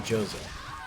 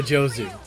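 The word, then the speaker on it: 上手: Excuse me, allow me to Nihongo Jozo. You didn't even say it right. Nihongo Jozu, whatever.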